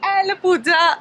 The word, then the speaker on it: Alappuzha: Good morning from Alappuzha. Alappuzha. I have to get the pronunciation correct.